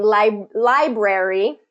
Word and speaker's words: library: So you see how the stress kind of changes from the first syllable to the second syllable in that.